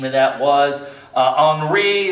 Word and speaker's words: Henri: Henri, that's how you pronounce that one.